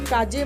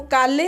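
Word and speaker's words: calle: आप मत hoiyega क्योंकि जो स्पेलिंग है वो काले होगी पर स्पेनिश वर्जन में वो काजे हो जाएगा एस और एस फॉर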